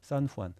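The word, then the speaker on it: San Juan: 산후안.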